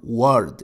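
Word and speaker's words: وَرْد: example is the word word which means flower wow ra dal you can see here that wow is pronounced as w the word is again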